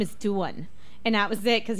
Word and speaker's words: Dawn: Her name is Duan." And that was it, because he was so cute. I made sure everybody, including my parents, knew that my new way of pronouncing my name was actually Duan.